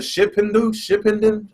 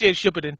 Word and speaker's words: Shippuden: The was it Shippenden? How you pronounce it? Shippenden. I think it's pronounced Shippuden.